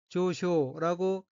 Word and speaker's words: 上昇: 셋째 줄 가운데 어휘는 한자가 한국어로 상승이고 각기 윗상, 오를 승자로 되어 있고 일본어로는 조쇼라고 읽으며 조쇼는 상승이란 뜻의 명사이고 수로 자동사로도 쓰입니다.